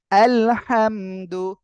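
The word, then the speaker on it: الحمد: রাব্বিল আলামিন ভুল হবে কিন্তু আলহামদু হাম গলাটা চেপে মুখ দিয়ে হালকা বাতাস বের করে উচ্চারণ করতে হবে আলহামদু সবাই জোরে জোরে আবার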